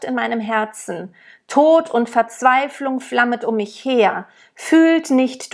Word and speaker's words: Verzweiflung: I just want to point out that the rules about the R's at the end of words and at the end of syllables, like ver is a syllable that happens a lot in German, ver. When we speak, we never roll it, okay?